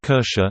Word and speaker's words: Kirche: Not English but German, Kirche church and Kirsche cherry sound very similar to each other.